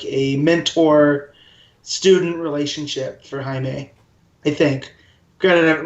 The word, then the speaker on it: Jaime: He lives in El Paso, and it's spelled Jaime, which I always read as Jaime. Unless it's in Game of Thrones, then it's just Jamie, but that's because George R. R. Martin is weird with language.